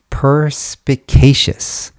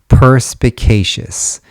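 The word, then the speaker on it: perspicacious: Uh it's pronounced ppicacious. ppeacious.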